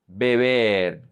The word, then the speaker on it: beber: In here, it's going to be very important to pronounce the correct vowels. E. Beber. Beber. Because if you don't do it, then you're going to pronounce vivir. Vivir, just like beber. The only difference between these 2 words are the vowels. This is beber. This is vivir, ee.